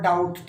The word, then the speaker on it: doubt: और डाउट तो ये आपको पता ही है, DOUBT, तो साइलेंट क्या है, B, स्पेलिंग में रखनी है, ठीक है।